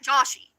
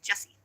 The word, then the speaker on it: Jessie: The story, of course, of I'm not Aunt Joshy. I'm not Aunt Joshy, okay? Auntie Jessie. It's pronounced Jessie. I don't have the H.